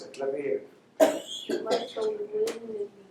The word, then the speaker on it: Mussolini: Yeah, but how do you pronounce it? Let me hear. Mussolini.